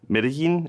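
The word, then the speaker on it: Medellín: So if you build the best ice cream PWA ever in, let's say, Medellin, is that how you That's pronounce right.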